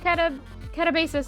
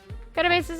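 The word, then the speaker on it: katabasis: saw the idea of cata catabasis i'm sorry i spelled you're pronounced that wrong earlier kind of basis is that in the grand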